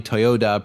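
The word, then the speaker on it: Toyoda: Also, apparently Toyota, pronounced with a D, means fertile rice paddies, so I guess that wasn't ideal.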